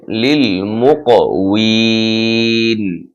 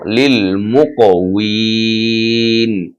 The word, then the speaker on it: للمقوين: উচ্চারণটা হবে লিল মুকউইন। এখানে যদিও বিন আছে, আমরা বলবো লিল মুকউইন।